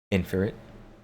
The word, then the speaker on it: Infritix: The X is silent. Tell that to Twitter. Inferit.